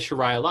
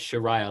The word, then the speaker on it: Sheria: you're trying to teach us people how to pronounce it and you're saying it's like sure and i read sharaila i was always thought with sharia law and you're like it's sharia like shirai